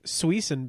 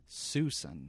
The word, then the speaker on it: Suisun: either way we're in what we called last week Suisse and Bay but no Suisun Suisun Bay like they spell it right su e s oo